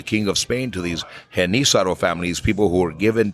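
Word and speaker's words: Genízaro: my mom's side wow they're called henissaro people in the south and they're all over new mexico there's a history of i was always reading it as jen azaro i'm saying it wrong yeah yeah okay i'm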